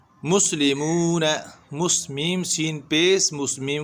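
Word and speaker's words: مسلمون: ली, muesli, meme वाव पेश मू, वाव मद्दा, मुस्लिमू ना, नून ज़बर ना, मुस्लिमून, मुस्लिमून नहीं पढ़ना है, लेमून नहीं, मुस्लिमून।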